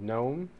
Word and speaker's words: GNOME: The windowing interface that is being used is called GNOME. It's spelled G-N-O-M-E.